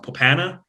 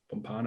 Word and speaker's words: Pompano: was down in like i always say this wrong popana pompano in florida there you go i always say it